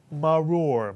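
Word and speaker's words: מָרוֹר: syllables maror mitsu Mar notice the first R does not have a silent chah so we would not add the r to the first syllable Ma you would not say Mar is the first syllable but maror what is maror yes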